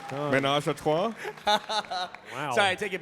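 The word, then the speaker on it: ménage à trois: I believe it's pronounced Well done. menage a trois.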